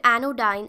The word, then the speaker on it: anodyne: Moving on now to the next word, anodyne. Anodyne या anodyne, इसको anodyne की तरह प्रोनाउंस किया जाता है.